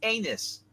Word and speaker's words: Unus: Pronounce it right. It is Anus.